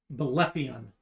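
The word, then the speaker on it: Belephaion: signed by a dragon Army Commander named uh bolepion and that is spelled b-e-l-e -p-h-a-i-o-n -fian um the remainder of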